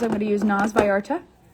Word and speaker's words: Vallarta: a powder bronzer i'm going to use nars vallarta it's actually spelt velata but pronounced by arta with another brush this is the angled brush